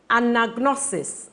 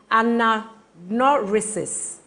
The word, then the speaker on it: anagnorisis: Hubris, catharsis, anagnosis. Sorry, let me pronounce that again. Anagnorisis, juxtaposition.